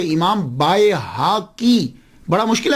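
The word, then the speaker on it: البيهقي: इमाम बैकी बैकी बैकी हम अक्सर लोग बैकी बोलते हैं। लेकिन मैं उनको गलत नहीं कहता। क्यों? हमारे माशरे में यही है। आप बताइए कि इमाम बाय हाकी बड़ा मुश्किल है प्रोनाउंस करना।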